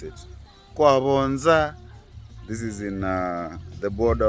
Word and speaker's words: Kwa Vonza: Yeah, that's how they pronounce it. Kwa Vonza.